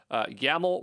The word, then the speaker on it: YAML: and it will work yaml rhymes with camel uh that's the way